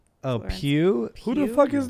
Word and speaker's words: Pugh: Florence Pug. Oh, Florence Pugh.